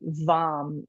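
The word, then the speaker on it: vam: And the can't here is vom. V as in Virginia. A m vom.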